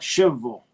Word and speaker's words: Shelbyville: You have to call it Shville."